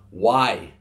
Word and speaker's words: wai: we hear all the time the word is why W AI why is water we've got white